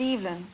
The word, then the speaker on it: Evelyn: Well, I pronounce it Evelyn.